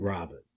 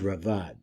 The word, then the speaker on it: Raavad: rambam a lot so this is a different robit or I think it's pronounced Rad but in any case